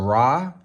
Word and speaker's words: Ra: for the sun god which may be pronounced either rey or ra and then we have